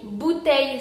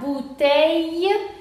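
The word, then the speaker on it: bouteilles: sería I, entonces sería bouteille, y la S final no se pronuncia, la E tampoco, entonces sería bouteille.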